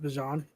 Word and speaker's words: Bijan: I mean, did you guys know it's actually pronounced Bijan? Bijan. Like mustard. Like Bijan mustard.